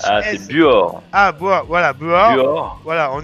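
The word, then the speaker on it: Buochs: on est alors je sais pas comment on prononce on est à be B u o C H s ah c'est Buor ah voilà Buor voilà on est en Suisse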